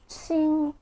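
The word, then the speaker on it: 青: It's pronounced qing, which means green. And believe it or not, these characters all pronounced qing, but may have different tones.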